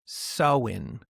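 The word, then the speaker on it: Samhain: ancient Celtic festival of Sam Hayne. pronounced sewing. Just in case you were like, there's too many letters in vowels in that, you can just shorten that to sew in.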